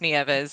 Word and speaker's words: Nieves: My last name's pronounced Nieves. It means snow in English.